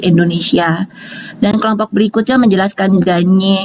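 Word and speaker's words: Gagné: dan kelompok berikutnya menjelaskan ganyek ini bacanya ganye bukan gagne ganye Dwi vygotsky ataupun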